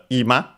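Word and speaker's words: 今: Uh by the way accented on the first syllable. Uh keep it in mind since there's another ima accented uh on the last syllable with a different meaning. But yeah, this one is accent on the first one.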